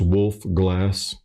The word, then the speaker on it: Wolfe Glass: So it's wolf glass like a drinking glass.